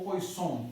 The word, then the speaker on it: Poisson: Então, com isso daqui nós vamos agora trabalhar um pouquinho com a distribuição de Poisson, ou Poisson, né, como alguns também pronunciam.